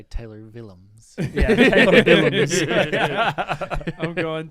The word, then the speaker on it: Willems: It says, sounds like villains with a soft V as in village, but it's a W.